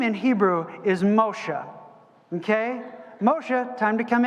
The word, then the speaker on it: Moshe: name in Hebrew is Moshe okay Moshe time to come in for dinner okay not Moses that's Moshe is the Hebrew pronunciation of the name it is an inflection